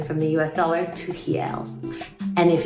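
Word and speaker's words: real: the rs are pronounced pronounced as h's in portuguese and when you do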